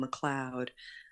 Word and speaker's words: McLeod: Cloud9 Productions which um is like a play on my last name McLoud uh and it's spelled CLE